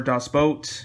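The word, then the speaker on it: Das Boot: here so we have dos boot or dust boat if you kind of want to have the proper german pronunciation of that um i haven't seen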